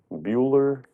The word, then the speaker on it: Buechler: Buechler. Bueller? Bickler. I've heard both pronounced. Bueller. It's a weird spelling for Bickler, but that's Well, what a lot of Was the people.